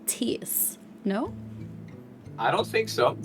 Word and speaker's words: Thijs: Thijs. Thijs. Like Thijs. Thijs. Yeah, you do. Yeah, that's very good. Like with a T, not the Yes. TH sound. Okay, so it's Thijs.